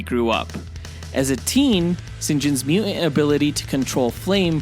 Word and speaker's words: St John: that James Bond movie if your first name is John it's actually pronounced Sinjin Sinjin Sinjin yep so for